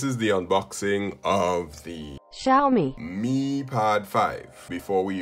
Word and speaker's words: Xiaomi: as said by google the official pronunciation of x-i-a-o-m-i is xiaomi but i'm from the